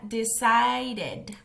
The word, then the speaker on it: decided: hay un extra tip todos los verbos regulares en pasado que terminen con t o con d utilizan esta pronunciación entonces aquí vamos a ver otro ejemplo decide decide decide en pasado sería decided decided Luego de eso